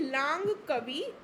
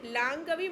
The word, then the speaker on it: Langkawi: हुआ है, तो ये लांग कवि मलेशिया में हुआ है। LANGKAWI, ठीक है, तो प्रोनाउंसिएशन लांग कवि कुछ भी बोल लेना।